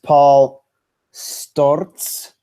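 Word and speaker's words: Paul Sztorc: Coming to Paul Storz is how you say it.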